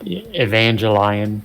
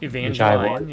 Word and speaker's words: Evangelion: Or as I've said, Evangelion. Evangelion, yeah.